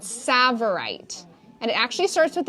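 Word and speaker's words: tsavorite: these are garnet's ladies these are it's called savorite and it actually starts with a tea i know and it's a hard one yeah but it is it is pronounced savorite so cool and i want to show you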